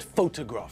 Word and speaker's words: photograph: falls on different syllables think about the word photograph for example there the stress is on the first syllable just like in Hungarian